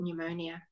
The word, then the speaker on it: pneumonia: and pneumonia you see we don't say that pneumonia we just say it pneumonia okay you know knee